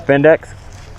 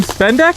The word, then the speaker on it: Vindex: Havoc from Team Vindex. Havoc from Team Spendeck? Vindex. Vindec? V-I-N-D-E-X. So I said Vindec. Yeah. Just because you can't hear doesn't mean I'm not saying it right.